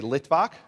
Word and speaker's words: Litvak: Say Litvak. Litvak are Jews who came from Eastern Europe, from Lithuania. Litvak is the Yiddish pronunciation of someone who comes from Lithuania.